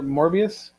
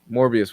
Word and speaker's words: Morbius: and with mobius right around the corner orbeez morbid and i always mess that pronunciation up more morbius morbius with morbius right around the corner maybe we'll